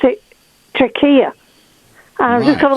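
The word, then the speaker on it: Türkiye: I have noticed that they started to spell Turkey, Turkiye, and to pronounce it Turkiye.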